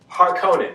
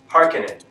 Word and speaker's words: Harkonnen: or the screenwriters because they made a thing of pronouncing certain words differently than in the 1984 version such as patasha and harkonnen they pronounce i think pedesha and parkanen and those are relatively